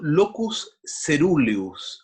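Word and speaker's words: locus coeruleus: Es un neurotransmisor que se produce en una región ubicada en el tronco del encéfalo, llamado locus ceruleus, así se pronuncia esa palabrita tan endemoniada.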